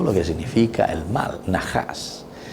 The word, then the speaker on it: Najás: que significa el mal najas y n a h a SV a la verdad en la serpiente Nosotros también lo escribimos por la pronunciación con la J verdad n aj asnajas verdad Pero el sentido